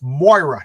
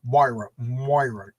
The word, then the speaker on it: Moira: Moira. Moira. You know, I say Myra. It's funny because Myra is like Jewish sounding. Moira is Irish sounding.